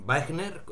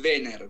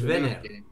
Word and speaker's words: Waehner: Es Wenner, pero no tengo problema. Ah, es Wenner. Wenner. Es alemán, sí. Es una A con diéresis, pero se escribe AE.